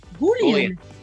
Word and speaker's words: Boolean: Am I pronouncing it right? Boolean. After Monsieur Boule.